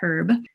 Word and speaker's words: herb: I always say it properly for the Australians, herb.